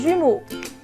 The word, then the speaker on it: jumeaux: Des jumeaux. Donc ici, la lettre qui ne se prononce pas, c'est X.